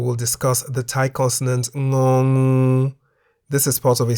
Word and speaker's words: ง: The Thai consonant ng sounds like the ng in the middle of the word singing or ringing at the beginning and end of a syllable.